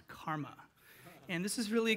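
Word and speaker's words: CCRMA: previous CCR MA and it's pronounced karma and this is really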